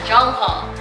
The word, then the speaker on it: Jongho: I'm not sure how to pronounce his name, but yeah, Jongho.